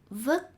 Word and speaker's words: vứt: For example, words with t at the end are pronounced like with a k. This sign says, don't throw garbage on the street. The word for throw, vứt, is spelled incorrectly.